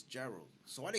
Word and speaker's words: Gerald: get called um when a spanish person tries to say my name it sounds like they're saying or yeah or or i didn't did i'll correct them explain it like just say hello that's the closest that some people are going to